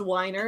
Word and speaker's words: Weiner: Now listen to her be like, my name's pronounced Weiner, actually.